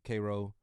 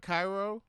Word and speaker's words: Cairo: my mom's from Jamaica not Cairo no it's Koo it's K yeah the country man yeah you you know Koo is I I think I've heard of Cairo Georgia but I I yeah spell spelled like Cairo yeah I've never heard anybody say cro called kro yeah it's right outside